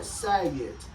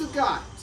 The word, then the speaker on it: Sagat: Like Sagat, like you might look at that and call it Sagat, but it's not. It's Sagat.